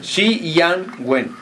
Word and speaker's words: Shi Yan Wen: ¿Está bien pronunciado, sí? Xi Yang Wen. Xi Yang Wen. Xi Yang Wen. Muy bien.